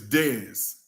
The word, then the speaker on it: Dez: Well, people in the counseling realm know me as Dez. Just Okay, D-E-Z, Dez.